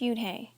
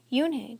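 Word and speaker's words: Unhei: turned to Joey she nodded slowly yes it's pronounced Yun and it means Grace Mr Kim added Yun Joey said slowly and this time perfectly it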